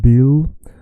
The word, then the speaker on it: bil: And remember, it's not like in English, it's a soft L. La la la la la. It's not a la la la like bill. Bill, hello, hello. Hello. When you say hello in English, your tongue is like la la la inside. In Swedish, as in Spanish, the L is la la la. Your tongue is touching your teeth.